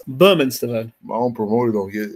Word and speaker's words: Bermane Stiverne: Let me get the pronunciation right now after all these years. BERMANE STIVERNE. It's BERMANE STIVERNE.